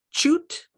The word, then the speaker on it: chute: laundry shoot oh yeah it looks like shoot but it's shoot shoot the ch for this word makes the sh sound laundry shoe where you